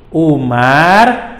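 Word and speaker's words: Oemar: HOS itu kepanjangan dari Haji Umar Said Cokro Aminoto. Nah, Haji Umar Said Cokro Aminoto. Kenapa O, Kak? O itu ejaan lama, OE jadi U.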